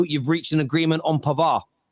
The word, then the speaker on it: Pavard: reached an agreement on pavar I've been told by French people it's pavar not pavard they don't pronounce it D I don't know whatever